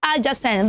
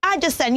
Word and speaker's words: adjacent: else is understand okay so it is not adjacent the word is pronounced adjacent adjacent can you say that with me one more time louder and Jason very good so you don't say Addison you should say a Jason number four is